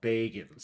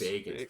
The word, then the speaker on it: Bagans: Is well, no, you got to pronounce it like fucking like North Carolina Bagans. Bagans.